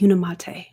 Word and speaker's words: Unimate: and balance Ah that's how you say it unimate you guys see in this picture right here